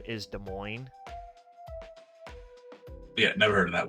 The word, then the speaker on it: Des Moines: close to Des Moines nor are they in Des Moines County and then if you go over towards Chicago there's Des Plains you pronounce the s in Des Plains but you